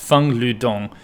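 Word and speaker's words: Feng Lüdong: The 67 kilo Feng Ludong, it's actually Feng, I believe it's pronounced, Feng Ludong, 150 kilo snatch as a 67 kilo weightlifter.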